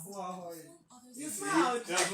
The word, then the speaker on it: Uwakhonye: And one thing interesting about my surname is that you actually need to smile to get it right. You can't smile. Get it right. Yes, you won't pronounce it right. Uwakhonye. Oh, Pronounce. Uwakhonye.